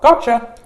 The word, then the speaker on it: gotcha: A Y sound so a T and A Y together this is pronounced as a CH that's why you hear gotcha Chia gotcha gotcha and that's why we